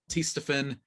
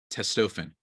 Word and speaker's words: Testofen: T Testosterone Booster with Testofen will help you turn back the clock. Testofen, I should say, actually. I pronounced it wrong.